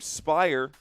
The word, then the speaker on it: Spire: So, if that is the correct pronunciation, then Gabe Spire.